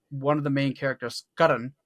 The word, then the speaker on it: Karna: of the main characters Karan who it's spelled karna in the west he's given a suit